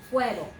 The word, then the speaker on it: fuego: Fuego. Two syllables, only two syllables. Let's try it. Fuego.